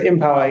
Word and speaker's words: Empower: Let's unpack this further with Matthew Cruz, who is an energy expert at, how to pronounce it, Matthew? Is it Empower? That's correct, Empower, yes.